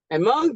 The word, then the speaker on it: among: A-M-O-N-G, among here is a preposition. Now, where should I insert my stress? The stress is going to fall here, all right? Okay? Mung is taking the stress among, two syllable.